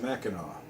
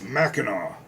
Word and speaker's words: Mackinac: It's Mackinac. But it's CAC. Yes, but it's en français. It's the French spelling of a Chippewa or Anishinaabe word.